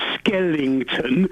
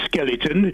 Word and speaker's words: skeleton: First of all, when you were reporting on Sochi, you were going on about Skellington. Yeah, the Skellingtons. No ing in skeleton.